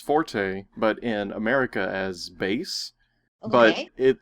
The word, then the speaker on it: Bass: It's supposed to be like a musical thing, like bass and treble. But if they don't spell it out phonetically, how would you know? And I didn't know, and nobody corrected me. So nobody thought. I never thought until this moment that was supposed to be bass.